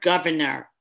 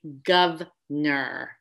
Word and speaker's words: governor: greater than two syllables think of the word governor i've talked a lot about that in other videos there's three syllables but so often you hear someone say gov ner same thing with the